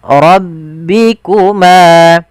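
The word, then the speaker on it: رَبِّكُمَا: Kemudian rbikuma rbikuma tukadziban. Lafal rbi. Tebalkan huruf bnya. Maaf rnya tebalkan baru ke ba. Rbi. Ya. Kemudian rbikuma.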